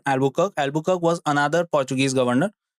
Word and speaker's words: Albuquerque: read more about them remember this is the pronunciation Albuquerque Albuk was another Portuguese governor He took this post in 159 and remained till 1515.